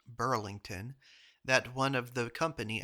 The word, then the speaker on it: Bridlington: It was at Bridlington, which I'm just now learning is pronounced Burlington, that one of the